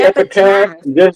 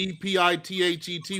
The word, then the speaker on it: epithet: But when I say epitaph, just know what I mean. Okay? Because Elyon is an epitaph of El. Okay? You mean the E-P-I-T-H-E-T word, right? Exactly. However you want to spell it. That's epithet.